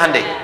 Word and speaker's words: Hyundai: di sana bikin Honda sini hundai Hyundai kan dibacanya hundai ya kan sana Honda